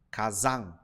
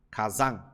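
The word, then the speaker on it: 火山: o certo é casan Kazan perceba que um pouquinho ele acaba nasal ó Kazan Mas você tem que tentar falar za casan casan Ok significa vulcão essa palavra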